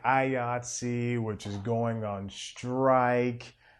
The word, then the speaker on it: IATSE: had down here was say the word yahtzee it rhymes with ayatsi i mean i just